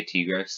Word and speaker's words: Tigrex: flagship uh t-grex um t-gifts tiger x however you say it i say t gross because that's how it's supposed to be said that's how i kind of learned how to say it so t greg's it